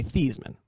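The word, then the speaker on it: Theismann: old town Joe Theisman Joe Theisman his name is really these men uh-huh and when he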